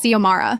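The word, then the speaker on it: Xiomara: My name is Zomara.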